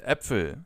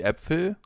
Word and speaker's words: Äpfel: When it comes to the pronunciation of this letter, just think of the English term bat. And now use the same pronunciation as in the Ä from bat and use it for Äpfel, for example.